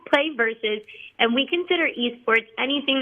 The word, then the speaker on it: PlayVS: what is it sure so it's pronounced play versus and we consider Esports